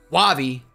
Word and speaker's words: Wahvey: Wahvey, pronounced correctly.